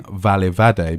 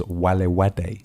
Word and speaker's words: Valivade: We were saying Valivade because it's spelt with V's. Two V's. V's in English. Yeah. But I think the correct pronunciation is Valivade.